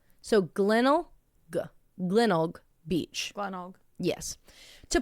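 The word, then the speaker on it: Glenelg: heard from Australians talking they have the g at the end it's spelled Glenn g l n e l g and they say it's like kennel so glennel Glen Beach Glen yes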